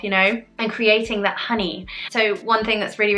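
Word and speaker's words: hynni: part of it and the honey pronounced honey h-y-n-n-i is the welsh word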